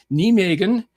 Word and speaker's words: Nijmegen: Van Halen, the Van Halen came from Nijmegen, to say it in the proper Dutch pronunciation.